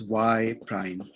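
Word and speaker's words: y′: and sometimes for shorthand people often use a prime to signify right pronounced as y prime right they often use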